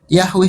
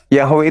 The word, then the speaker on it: Yahweh: Yahweh itu cara membacanya mesianik.